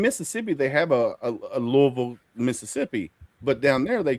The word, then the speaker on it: Louisville: Louisville. There's only one. You don't say Louisville. No, no, it's Louisville.